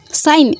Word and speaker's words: sign: When G was silent, that first of all, sign, S-I-G-N, sign. Here this sign G was totally silent, S-I-G-N, sign.